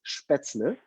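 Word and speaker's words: Spätzle: we will have spaetzle so the correct pronunciation is spaetzle it got wet that's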